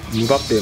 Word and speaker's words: Mbappé: きた頃はその表記発音が定まっていませんでしたが日本のメディアでの取材でエンバペの名前の正しい発音の仕方を聞くコーナーが設けられムバッペもしくはエンバペが近いということが明らかにしかしそのインタビューの